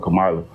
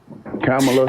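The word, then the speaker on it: Kamala: kids are vote for cila and that's not how you pronounce her name cameela anyway your audio is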